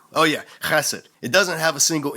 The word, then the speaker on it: chesed: Bible is this word, chesed. Say it, class, chesed. You gotta pronounce it like you're trying to hock up a big loogie to spit on some